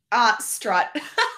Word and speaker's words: Strut: How do you say your last name? Strut. Strut.